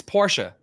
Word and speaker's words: Porsche: so to your question Porsche um you cut off the E you don't pronounce the E it's Porsche okay Porsche yeah Porsche